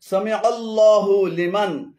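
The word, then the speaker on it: سمع الله لمن: এখানে সামিআল্লাহ এবং হুলিমান উভয়টি ভুল উচ্চারণ। শুদ্ধ উচ্চারণ হবে সামিআল্লাহু লিমান, সামিআল্লাহু লিমান।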